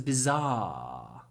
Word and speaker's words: bizarre: film it was bizar make the ah really long bizar and try to use croaky voice if you can I call it croaky voice bizar so the second half of the sound is not ah with your voice it's ah croaky bizar bizar a bizar film